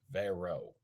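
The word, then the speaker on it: Verot: it's not of his school which is Bishop Vero that is stupid very is silent by the way it's v e r o t let's call it verit just for the fun of it verit all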